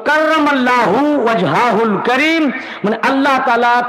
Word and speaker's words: কাররামাল্লাহু: এটা কারামাল্লাহ স্পেলিং কি লিখেছেন? না, এটা উচ্চারণ হবে কাররামাল্লাহু, কাররামাল্লাহু ওয়াজহাহুল কারীম।